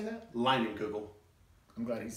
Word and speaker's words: Leinenkugel: Leinenkugel.